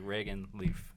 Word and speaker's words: Reagan Leaf: It's all, yeah, everyone, it's, yeah, like Reagan Leaf.